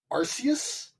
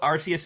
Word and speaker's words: Arceus: game alright here we go first one is Arceus Arceus yeah the God of all pokemons well yeah of course our seats would be on the team suppose Arceus is the Pokemon equivalent of ok why do